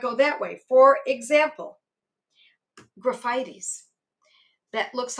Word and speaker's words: Graphites: For example, graphites. That looks like graphites. We pronounce it graphites, or at least I do.